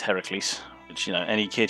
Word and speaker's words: Heracles: i discovered that no it's not pronounced hercules it's heracles which you know any